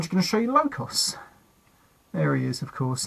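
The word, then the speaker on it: Lokos: A bit like Locus, but it could be Locus, but it's spelt L-O-K-O-S. Sorry, L-O-K-O-S, so that must be Locos.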